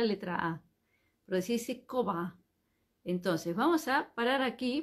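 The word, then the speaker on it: כובע: ponemos en la cabeza se dice cova coba es sombrero Cómo se escribe k de kilo o b larga a coba y es una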